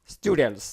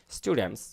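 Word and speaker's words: students: এর না help help স্টুডেন্টস ছাত্রছাত্রীদের এখানে বন্ধুরা খেয়াল করুন এখানে একটা ভ্যানিশিং টি আছে আমেরিকান ইংলিশে এই উচ্চারণ করার কোন প্রয়োজন নাই স্টুডেন্টস খেয়াল করেছেন তো আপনি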